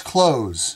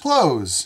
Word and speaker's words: clothes: close close close close so two different words two different spellings but the exact same sound and that's the trick